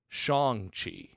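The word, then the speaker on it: Shang-Chi: it at this point shang chi which pronounced in the movie trailer shong chi oh my god and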